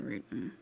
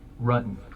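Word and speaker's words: Ruetten: she killed four John rooten in interesting the plot seconds John rotten rutton the investigators already knew how to say John rutton's name correctly the mispronunciation was a simple strategy to see how the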